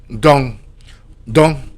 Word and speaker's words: dont: So, right here, you're going to be learning dong. Dong dong spelled d o n t. Pronounce do the the n. It's like nasal. You you barely pronounce it.